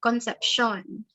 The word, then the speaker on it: Concepcion: silent h and then my last name is actually um like spill it it sounds spanish it's conception so that's how you say it yeah i gotta